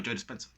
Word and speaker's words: Joe Dispenza: name's joe dispenza yeah no joe dispenser that's that's how you say it yeah joey spencer he